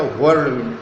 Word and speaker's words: whirlwind: इसको पिकअप करेंगे आप whirlwind, WHIRL WIND, whirlwind या whirlwind, दो प्रोनाउंसिएशन है.